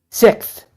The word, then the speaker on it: sixth: go on January six you said it wrong damn it you're saying it wrong on purpose six six there you go six like you're saying six and you're just adding a little tongue to it at the end okay six oh my